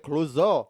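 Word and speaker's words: Clouseau: yeah jao cluso yeah but he pronounces it clo it's a French like CL you know that every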